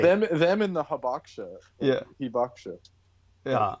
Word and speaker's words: Hibakusha: For those of you who don't know, it's spelled like Habakusha, and you might as well say Habakusha because that's the only way Americans are going to remember it. When you say Hibakusha, they're not going to be able to look it up because they won't be able to spell it.